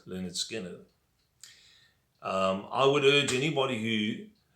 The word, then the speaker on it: Lynyrd Skynyrd: so then there we have it leonard skynyrd pronounced leonard skinner i would urge anybody who wants to get